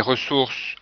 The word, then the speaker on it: ressources: Des ressources avec deux S pour avoir la prononciation entre deux voyelles.